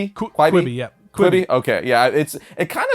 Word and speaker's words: Quibi: But moving on to movies and television, we have, I don't know how to even pronounce this name. I think it's Quibi. Quibi, yeah.